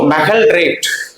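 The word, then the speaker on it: magaldrate: அடுத்த ஆன்டாசிட்ஸ்ல நம்ம பார்க்கக்கூடிய 3வது இன்ஆர்கானிக் ஏஜென்ட்ஸ் என்ன அப்படின்னா, ஒரு சில பேர் ஒவ்வொரு மாதிரி இதை ப்ரொனவுன்ஸ் பண்ணுவாங்க. ஸோ மெகல்ட்ரேட். மெகல்ட்ரேட் அப்படின்னா சிம்பிளா மாலிகுலர் ஃபார்முலாவும் அதனுடைய பேரும் வந்து மனசுல பதியணும் அப்படின்னா கொஞ்சம் சிஸ்டமேட்டிக்கா படிக்கணும்.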